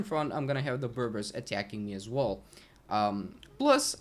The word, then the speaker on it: Berbers: Okay, so we got those guys here, the Berbers. That's how it's pronounced.